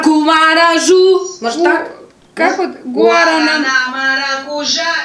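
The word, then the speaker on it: guaraná: Гу, гуарана. Ком самбиняс и мадиняс абакате витамате гуарана. О, подождите. Гуарана, вот здесь нет окончания. Гуа. В оригинальном тексте там стоит ударение на последнее А.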